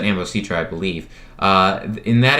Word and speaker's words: Ambositra: satellite up forum uh i believe that's ambostra um ambositra yeah you pronounce that ambositra i believe uh in